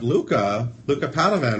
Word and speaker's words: Luca Padovan: We have Luca Padovan, right?